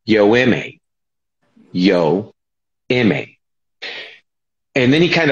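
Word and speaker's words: Yoeme: You have to pronounce it correctly. It's Yoemi.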